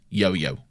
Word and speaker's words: Jojo: But like, it's like the European thing where the J's are Y's, so it's yo-yo.